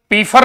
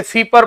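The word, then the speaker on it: Pfeiffer: Pollen फीपर, पीफर नहीं पढ़ेंगे इसे, फीपर पढ़ते हैं मेरे दोस्त, फीफर।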